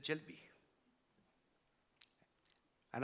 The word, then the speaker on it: jalebi: when they served the dessert, they served the jalebi. And I got to know that the jalebi, which they pronounced as jalebia, tasted somewhat differently from our jalebi because the batter that was used was different.